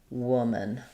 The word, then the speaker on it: woman: And then w I'll write that with a u. Woman. So the W just keep the roundedness of the W and keep the tongue high for the uh vowel.